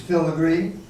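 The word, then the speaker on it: Pfilligree: The P is silent, like it is in pneumonia.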